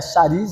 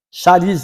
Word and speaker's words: charis: A definição de graça, nós já sabemos que no grego graça é charis, né? Charis, né? É isso mesmo, né? A pronúncia. Charis.